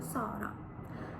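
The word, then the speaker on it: Zara: маємо сета сета тут Зверніть увагу що це не з як це як воно вимовляється у на нашій мові з це с с наприклад відомий магазин зара Так це буде Сара або відома співачка Сара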